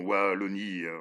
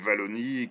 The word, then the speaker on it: Wallonie: Non, Wallonie, oui, chez nous, dans notre petit royaume, on prononce le W de Wallonie comme ça, mais je sais que vous aimez le prononcer Wallonie, comme dans, oui, les